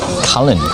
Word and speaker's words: Cullen: person all right i know earlier on i kept saying callum callum callum but it's actually cullen c-u-l-e-n so i apologize to all territorians for mispronouncing this place yeah so it's a